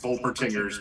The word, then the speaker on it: Wolpertinger: Volpertinger? Yeah, Wolpertinger. Okay, cool. Yeah, with a W, so like the German pronunciation would be Vol, but with a Wolpertinger.